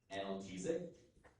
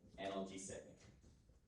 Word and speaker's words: analgesic: There are two pronunciations, I'll give you both. The word is analgesic or analgesic.